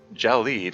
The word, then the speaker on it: gelid: skin jelly WF no I would have pronounced a gelid but uh my Googling that's from um yeah it's gel lead it's there's a long e sound has the little the the the accent that indicates an e sound like a lid yeah you did it